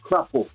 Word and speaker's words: crapaud: Natal, not to be mistaken for the Spanish-speaking island Dominican Republic, this Creole delicacy is locally known as crapaud, crapo, pronounced crapo.